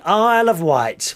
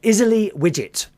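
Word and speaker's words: Isle of Wight: cat a of white is spelled i s l e of o f white w i g HT also known by some people here on the mainland as izy widget izy widget aisle izy of widget white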